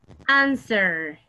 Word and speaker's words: answer: Answer. Es que la W no suena, ¿verdad? No sound. It doesn't have a sound.